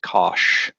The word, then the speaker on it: cosh: talked about before, the hyperbolic sine, which is pronounced sinh, and the hyperbolic cosine, cosh.